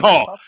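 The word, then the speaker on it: Mícheál: That's who I uh I ever Have I ever been Meehall. That's how you say it, not Michael.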